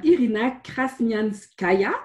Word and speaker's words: Irina Krasnyanskaya: nous nous revenons nous allons recevoir aujourd'hui madame irina cranium ce gaillard j'espère que je dis bien le jeu prononce bien le nom direct revient très bien